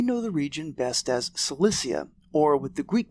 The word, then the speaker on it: Cilicia: classical history may know the region best as Cilicia, or with the Greek pronunciation Kilikia, home to the famous Cilician Gates,